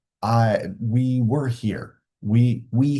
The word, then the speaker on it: hay: I pronounced not hey the first time I read it I was like hey no it's I this one is abia